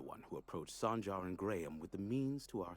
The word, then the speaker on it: Graham: did you hear that he pronounces the H slightly he pronounces it the